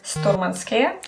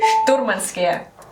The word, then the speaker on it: Sturmanskie: If you are confused on how to say the name properly, remember, it is not Sturmanskie. Sturmanskie. It is Sturmanskie.